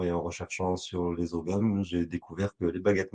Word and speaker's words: ogham: J'ai commencé à m'intéresser par le druidisme et j'ai découvert les oghams. Bon, en vrai, ça se prononce Ogham, mais en français, tout le monde dit ogham.